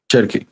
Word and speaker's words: Cherki: Is it Chechi? How do you pronounce his name? Cherki.